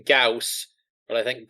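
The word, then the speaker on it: Gauss: For anyone listening, I'm aware it's pronounced Gaus, but I think Goss is better.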